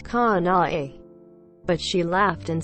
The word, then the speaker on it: Kanae: It's 3 claps, syllables, quote.